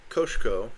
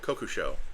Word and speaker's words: Kokusho: Oh, well, I'm going to sacrifice Koshko. Oh, Kokusho. Boy, I was pronouncing that wrong.